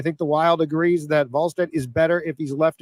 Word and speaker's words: Wallstedt: Wallstedt, according to Jesse, not Wall. I keep saying Wallstedt because that's how it's spelled. I think. Is it a V at the front? It sounds like it's a V pronunciation.